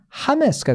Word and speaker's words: James: 근데 똑같은 알파벳인데 그게 아마 제가 알기로 스페니쉬로 읽으면요, 걔가 뭐가 됩니까? 이름이 하메스가 돼요.